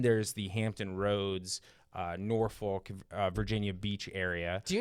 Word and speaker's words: Norfolk: I I always say Norfolk. I say like Norfick.